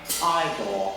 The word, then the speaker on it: Igor: Now it's pronounced I. You must be Igor. Now it's Here. Igor.